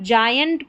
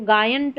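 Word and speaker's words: giant: यहां पर जयंट पढ़ा है। इसको गायंट नहीं पढ़ेंगे।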